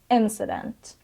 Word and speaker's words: incident: of this word is incident and the stress is on the first syab incident and it means events